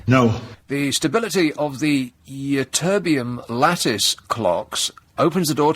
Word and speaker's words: Ytterbium: Ytterbium. this is how it's spelled.